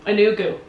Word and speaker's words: Enugu: Enugu. Okay, Enugu, yeah. So I like the way you pronounce it, Enugu.